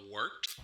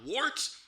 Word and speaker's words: Wort: Not wart, not fort, not short.